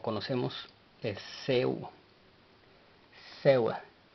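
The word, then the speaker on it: ሰው: Ahora, la siguiente palabra que presentamos y la cual aprendemos o conocemos es Seu. Seu. La W no lleva pronunciación en el vocal, así es de que es S-E-W. Seu.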